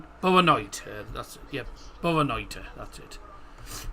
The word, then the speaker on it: Boa noite: Boa noite. Yep, Boa noite, I believe. Is it? Boa noite. Boa noite. Boa noite. That's it. Yep. Boa noite. That's it. Boa noite.